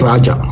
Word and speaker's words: Raja: இப்ப மாடர்ன் எபிரேய மொழி ஒரு மொழி மாறும் பொழுது நிச்சயமாக ஒருவருடைய பெயருடைய உச்சரிப்பு மாறும். உதாரணத்துக்கு என்னுடைய பேர் ராஜா, RAJA ராஜா. இப்பொழுது நான் ஸ்பெயின் போயிருந்த பொழுது ஜேக்கு அங்கே உச்சரிப்பு இல்லையா. அவர்கள் என்னை எப்படி கூப்பிட்டார்கள் தெரியுமா? ரஹா என்று கூப்பிட்டார்கள்.